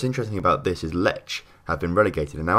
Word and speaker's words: Lech: So the Lech actually, if I'm being proper, is pronounced Le, I think. I think that's how I'm saying it.